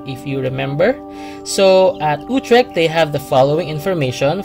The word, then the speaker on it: Utrecht: So I am basing my pronunciation on the Dutch clip I found at Wikipedia, and I'm playing it now. Utrecht. Utrecht.